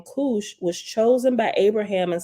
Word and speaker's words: Kush: at the bottom says the Hebrew word Kush pronounced Kush refer k-o-o-s-hoosh okay I said Kush the